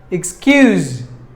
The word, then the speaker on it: excuse: we're number six excuse-excuse there are two syllables in this word excuse-excuse skills should be given more volume excuse and in that word there is a letter s and we have to pronounce that letter as like the z excuse-excuse meaning forget and